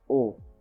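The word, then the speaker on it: eau: in the same way as you pronounce you pronounce that as oh okay e-a-u and then i were not the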